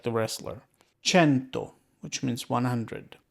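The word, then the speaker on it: cento: go means drops but the key Point here is that again the c e next to each other make a CH sound and because there are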